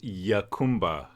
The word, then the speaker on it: Jacumba: illegally through open gaps on border wall in Jacumba, Hot Springs, California. Tomorrow, San Diego County officials will note, I think or will vote, pronounced Yacumba.